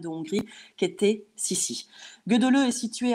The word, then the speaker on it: Gödöllő: Alors, ce n'est pas Gödöllő, même si ça s'écrit Gödöllő. Lucas, ce sera Gödöllő avec l'accent hongrois.